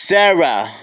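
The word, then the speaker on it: Cera: pet Tree on a magical journey wait that's pronounced Sarah okay on a magical journey that begins a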